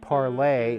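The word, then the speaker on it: Parler: they are it's tumblr parlor but it's pronounced parlay as PA RL ER and then there's also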